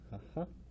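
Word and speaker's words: 母: We're going to pronounce it haha for kunyomi, and then the other kunyomi, of course, is ka. And then we also can have the pronunciation bo, as in sobo, for grandmother.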